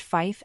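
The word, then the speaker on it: five: 5 is typically pronounced Fife and three is pronounced tree for this question the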